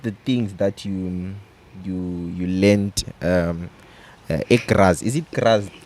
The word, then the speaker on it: Graz: So what are some of the things that you learned Graz? Is it Graz? Graz, yeah.